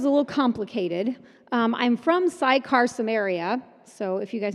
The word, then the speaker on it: Sychar: I'm from Sychar, Samaria, so if you guys know where that's How do you from. spell that? It's Sycar. Oh, okay. I would've said CY, Sychar. Sychar, Samaria is where I'm from.